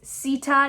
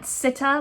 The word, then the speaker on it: Sita: sida's name which is sita not sitta like i was saying before it's more of an e sound as opposed to an i and apparently sita is